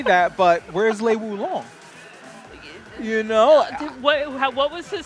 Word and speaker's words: Wulong: Let's say it correctly. Yes, I really do. Wulong.